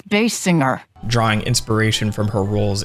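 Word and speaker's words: Basinger: evolve to resemble actress Kim Bassinger it's bass singer drawing inspiration from her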